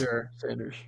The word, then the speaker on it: Shedeur Sanders: It He's was just Shedeur Sanders. no. Okay, yeah. Yeah, that's how you pronounce it.